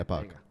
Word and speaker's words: Epoch: Yeah, Epoch.